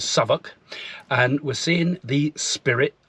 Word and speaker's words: Southwick: in a place called Southwick pronounced by the locals As saok and we're seeing the